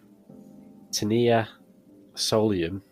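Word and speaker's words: Taenia solium: think I think it I think it's pronounced T tenia Solium right and this is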